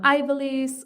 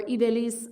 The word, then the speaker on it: Ivelyse: So I'm Ivelyse or Ivelyse. I use both pronunciations, largely because I speak 2 languages.